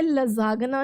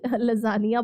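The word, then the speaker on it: lasagna: है पिज़्ज़ा स्पेटी और इसको आपने लजागना नहीं लजानिया बोलना है। ओके थोड़ी प्रोनाउंसिएशन इसकी अलग है।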